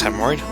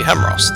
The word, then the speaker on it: Hemos: air and his conflux hemorrhoid I ordered uh Lord I'm afraid youve been mispronouncing my name it's supposed to be hemos the masan Shor said